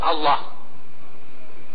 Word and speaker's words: Allah: ketika takbiratul ihram dia membacakan takbirnya, memanjangkan takbirnya, Allahu Akbar, yang dia kesalahan, ya kan?